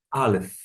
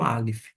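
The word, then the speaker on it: אלף: é Av, começa com Aleph. O Aleph não é mudo, mas ele vai pegar o som de um sinal maçorético que vai indicar a vocalização da vogal, nesse caso, o A, Av, Av.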